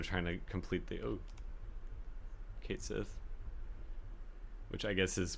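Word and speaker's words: Cait: to it I just think that maybe they kind of like set themselves up for a lot of difficulty later especially when they're trying to complete the oh Kate Sith which I guess is pronounced KY technically Ki in the gaic but you know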